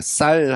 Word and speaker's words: 쌀: 그러니까 뭐 이거는 뭐 제가 뭐 지역 감정을 이야기하는게 아니라 우리가 쌀 하잖아요. 쌀 쌀 가져와 하는데 경상도 저쪽은 쌍시옷 발음이 잘 안 돼서 뭐 살이라고 발음을 했다.